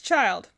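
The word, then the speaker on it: Childe: it for some reason to make it like pronounced differently like chilled or something like that which would make sense because he's a water guy but apparently it's child weird name but at least it's easy to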